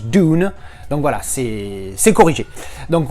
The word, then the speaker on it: Dune: C'est vrai que le U se prononce You en anglais, donc du coup, tu as tendance à dire Dune, mais en fait, ça se prononce Dune.